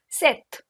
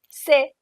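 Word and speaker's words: sept: times I've heard CE set set p is silent this p is silent set we or with both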